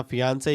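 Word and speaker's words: fiancée: और तुम्हें बता दो कि फियांसे और फियांसी दोनों की स्पेलिंग सेम रहती है, लेकिन जेंडर पे नेम चेंज हो जाता है। लड़की के लिए फियांसी यूज होता है और लड़के के लिए फियांसे। बाय द वे अपना प्यारा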